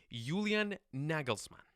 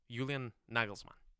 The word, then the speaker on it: Julian Nagelsmann: I'm going to try to get this pronunciation right. Julian Nagelsmann.